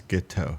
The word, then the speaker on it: Guiteau: pronounce the names yes guiteau it's like guitar but it's ghetto it's not guitar guitar plateau and then maximilian shell